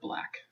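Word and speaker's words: 6LACK: It's X Calling by Six Lack, but it's pronounced black, but it's spelled Six, L-A-C-K.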